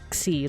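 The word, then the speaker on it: Ξι: Xi. I think this one is pronounced like Xi, like K plus oh here, like K and S together.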